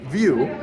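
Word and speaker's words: Viu: view by Hub okay so view it sounds like view right it's spelled v-i-u okay so I think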